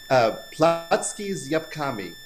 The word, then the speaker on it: Placki z Jabłkami: So how do we pronounce this? So it's apple pancakes, and in Polish it's Placki is Jabłkami.